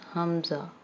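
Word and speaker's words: ء: Okay, next is Hamza. Hamza. Hamza is written like this. It has pronunciation of Hamza but it has the sound of like the alphabet A. Okay, it has the sound of alphabet A.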